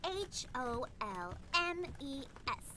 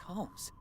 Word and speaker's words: Holmes: She was pronouncing it the French way. It's spelled H O L M E S.